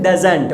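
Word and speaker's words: doesn't: क्या बोलेंगे शॉर्ट में, डजंट। ओके, कहने का मेरा मतलब ओके वो रिटर्न में आपके सामने आ रही है, ओके, लेकिन आप हिंदी में इसका जो प्रोनाउंसिएशन है वो होना चाहिए डजंट।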